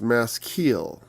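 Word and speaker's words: Maskil: psalm 32 mass kill apparently pronounced mask keel i should have known that because the the eyes are usually long eyes well not long eyes they're actually long e's in most foreign languages it's like that like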